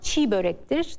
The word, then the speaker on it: çiğ börek: Çiğ böreğin okunuşu zaten çiğ börektir. Türkçe'de yumuşak ye telaffuz edilmez.